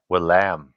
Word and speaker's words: Willam: It's Willem, but not EM. It's AM. Willem. Okay, Willam, Yeah.